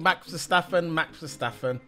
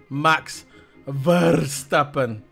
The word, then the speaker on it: Verstappen: That's the Dutch way of pronouncing his name.